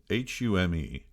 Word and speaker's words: Home: Home Chumley is spelled Hume, home, Cholmondely, Chumley. For those of you unfamiliar